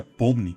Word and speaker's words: Pomni: Em russo, a palavra pomni, que se pronuncia pomni, pode ser traduzida como lembre-se ou record-se.